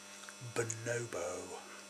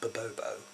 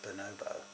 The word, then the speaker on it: bonobo: do you pronounce bonobo bonobo not it's not Bobo it's bonobo us this as a